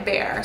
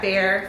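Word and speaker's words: Behr: Now I know I'll probably get questions about this, so the color on the walls is called Bare Mineral by Bare. So the Bare is spelt B-E-H-R, mineral.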